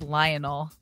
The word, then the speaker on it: Lionel: 2012 Messi it is we would say his name in America as Lionel but I think it's like Le yeah I think it's like Leonel lonel Messi Messi and I think